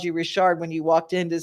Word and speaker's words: Richard: And it is spelled Lisa Richard for those people who don't speak Louisiana or Nova Scotia French. Right. But it's a Richard.